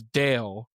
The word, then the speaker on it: Dal: So the main character, her name is Lenori, but her brother's name is Dale, and that's spelled D A L.